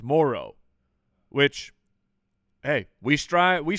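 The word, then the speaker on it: Moreau: we learned that we've been saying that guy's name wrong apparently it's it's it's not Monroe it's Moro which hey we strive we strive here to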